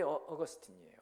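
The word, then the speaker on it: Augustine: 논 사람이 되었어요 이게 어거스틴에 스틴 아우구스티누스죠 라틴어인 발음은 아우구스티누스 영어로는 어거스틴 이분이 어렸을 때부터 총명했던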